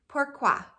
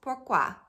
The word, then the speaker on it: pourquoi: actually a French word pourquoi can you say that two syllables pourquoi and it means why